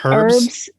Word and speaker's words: herbs: is my favorite oh herbs it's it's no you're not supposed to pronounce the h no yeah that's wrong